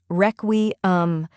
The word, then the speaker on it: Requiem: the correct pronunciation is reum let's break it down first we have wre which sounds like the word wreck next is we which